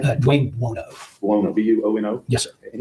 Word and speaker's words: Buono: Dwayne Buono.